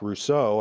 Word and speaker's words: Rousseau: when you die 18th century romanticists thinker Jean-Jacques Rousseau I believe is how you pronounce his name of course he said this